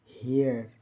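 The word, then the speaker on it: here: जैसे एच ई आर ई हियर हियर हियर यहां ड इ आर ई का उच्चारण इ अ जैसा होता है। शब्द को खींचकर हियर बोलते हैं।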